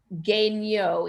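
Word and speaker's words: Guéniot: on the brain protocol his name is genyo it's g-u-e n-i-o-t oh okay thank you it's french so yeah he's a little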